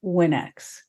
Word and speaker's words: WinX: the pronunciation right so people call it Winks instead of winex so I'm thinking about